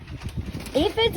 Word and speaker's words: aphid: How do you say aphid? It's like this, aphid. That pH digraph right there makes the F sound.